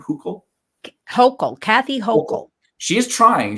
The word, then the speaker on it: Hochul: Is that how you pronounce her name? Hochul?